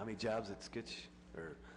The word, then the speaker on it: Sikich: How many jobs at Skitch, or how you pronounce that? Sikich? Sikich.